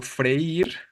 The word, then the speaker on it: freír: Pues estoy hablando del verbo freír, que, ojo, freír se escribe sin acento o con acento. Recuerden, ¿eh? Freír. Es tónica la débil, ¿no? Es hiato, efectivamente. Ese hiato que nos obliga a tildar, ¿vale?